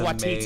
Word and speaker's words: Waititi: Yeah, Taka That's Waititi amazing. is how you Yes.